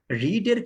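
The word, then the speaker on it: read: তবে রিডের ক্ষেত্রে উচ্চারণে পার্থক্য আছে। রিডের ক্ষেত্রে ভার্ব টু এবং ভার্ব থ্রিতে রিড উচ্চারণ হয় না। রিডের ক্ষেত্রে ভার্ব টু এবং ভার্ব থ্রিতে অর্থাৎ পাস্ট এবং পাস্ট পার্টিসিপলে কি হয় না? এই রিড উচ্চারণ হয় না, সেখানে উচ্চারণ হয় রেড।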